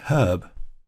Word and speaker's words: herb: Now in UK English, they would pronounce that word herb, presumably because there's an H at the start of it. So if it was an English speaker, they would say a herb.